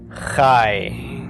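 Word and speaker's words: חי: me in life and it sounds like we're pronouncing this is a long I but in fact it's the Cod's it's called a diphthong it's a combination of the short a with the yes of the yo'd pronounced really quickly ie okay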